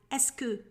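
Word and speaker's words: est-ce que: do you plus the verb but they use esoku pronounced as escu it translates as is it that so we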